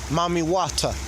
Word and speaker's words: Mami Wata: w a t a mami wata it spelled like that you know mommy watta um